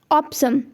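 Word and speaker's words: ऑपोसम: ये थोड़ा pronunciation difficult है, इसे हम क्या कहते हैं, ऑप्सम।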